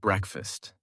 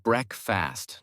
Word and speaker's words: breakfast: Especially with words like breakfast. It's pronounced bre fast, not break fast.